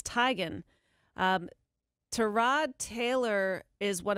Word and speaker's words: Teigen: her mom confirmed yes that is how to pronounce our last name it's Tigan to Rod Taylor is one of many athletes